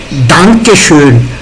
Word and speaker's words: Danke schön: Danke schön. Emphasis in A. Danke. Schön. It is not Danke schön. It is Danke schön. A.